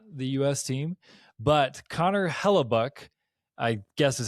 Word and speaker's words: Connor Hellebuyck: team, but Connor Hellebuyck, I guess is how you say his name.